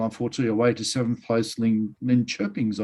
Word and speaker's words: Linköpings: away to 7th place Linköpings, I've heard is how you pronounce it.